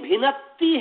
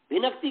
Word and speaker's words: भिनत्ति: नहीं, भिनत्ति है। भिनक्ति कैसे होगा बताइए? भिन्नति तथा संयुक्त नहीं, न पूरा है। भिनत्ति तथा संयुक्त, भिनत्ति।